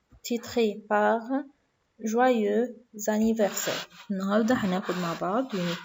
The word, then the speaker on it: joyeux anniversaire: بننطق joyeux لوحدها وanniversaire لكن لما بننطقهم مع بعض بنقول joyeux anniversaire.